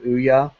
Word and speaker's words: Ouya: Like, if people, like, if in most cases, at least this is what I've been told from other Ouya, which is how it's pronounced, Ouya developers, is that their biggest complaint